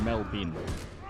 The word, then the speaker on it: Melbourne: We don't really even pronounce the B that much.